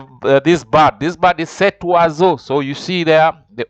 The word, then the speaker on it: cet oiseau: is a vowel, and whenever O and an I meets, remember I told you the pronounces, it becomes wa. And since you have to join, you have to say cet oiseau.